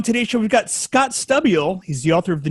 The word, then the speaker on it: Stabile: It's just Stabile. You're saying Stabile, but it's just Stabile. But I really don't mind, honestly. My name would be pronounced Stabile if we said it right.